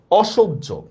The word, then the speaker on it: অসহ্য: এবার দেখেন এই উচ্চারণটা যদি লিখি আমরা অসহ্য। অসহ্য এই শব্দের উচ্চারণটা দেখেন তো। অসহ্য সেম। দেখেন অসহ্যর উচ্চারণটা অটা বিবৃত হবে।